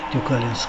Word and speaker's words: Тюкалинск: Впереди, примерно в 40 километрах, город Тюкалинск.